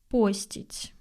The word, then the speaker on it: постить: Ударение в этом слове пока не зафиксировано, но я предпочитаю говорить постить, потому что это от слова пост. Пост, постить.